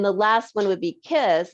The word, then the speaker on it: Kysse: And then the last one would be Kiss. And obviously it's KYSSE is how they spell it.